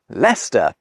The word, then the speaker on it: Leicester: But first the final Roman forts: the -cesters, not a single one of which is pronounced like it’s spelt.